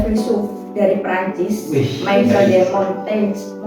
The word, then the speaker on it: Montaigne: Ini ada filsuf dari Prancis, Michel de Montaigne. Apa ini bacanya? Montaigne. Kayak Mobile Legends aja Montaigne.